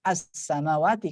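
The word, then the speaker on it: السَّمَاوَاتِ: Nah, itu kalau seandainya berhenti di sini bacanya bukan is ataupun us ya, as-samawati. Kenapa? Karena dia ada alif lamnya walaupun dia tidak dibaca. Alif lamnya tidak dimatikan, tidak disukunkan ya.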